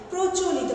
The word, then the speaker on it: প্রচলিত: এরকম আরো অনেক রয়েছে, যেমন ধরো প্রচলিত, পয়ে রফলা চ লয় বর্ষই ত, কিন্তু এটা যখন আমরা উচ্চারণ করি শব্দের শুরুতেই যে রফলা যুক্ত ব্যঞ্জন বর্ণ রয়েছে তার সাথে অটা ও এর মতো ওকারের মতো উচ্চারণ হয়, প্রচলিত, পয়ে রফলা ওকারের মতো উচ্চারণটা হয়।